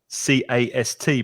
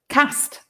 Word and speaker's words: cast: thing that's interesting is lin's pronunciation of c-a-s-t because lin's from the north of england and you say cast and i'm from the south of england and i say cast so two different pronunciations of the same word cast and cast we've got some more